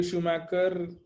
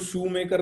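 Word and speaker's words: Schumacher: तो नाम सिर्फ मैंने इसलिए लिखा है कि इसको शू मेकर नहीं पढ़ना है, जूता बनाने वाला नहीं है। ठीक है, दिस इज शूमैकर। माइकल शूमैकर कोमा में गया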